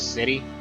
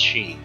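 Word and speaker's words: sidhe: Apparently, this isn't supposed to be pronounced as city. Like I've been always pronouncing it city. Apparently, it's supposed to be pronounced she.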